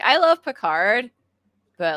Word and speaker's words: Picard: I was like, I want to get a Berger Picard, which is Picard, like Captain Picard.